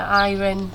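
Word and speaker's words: Airén: I think it's Airen. pronounced Airen. I mean, Airen, a bit like Ira.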